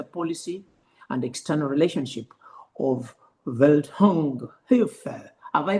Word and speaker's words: Welthungerhilfe: And yes, you pronounce it very well. It's Welthungerhilfe.